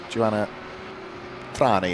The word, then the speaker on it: Joanna Thrain: So that's Joanna Thrain, actually, is the way that you would pronounce that.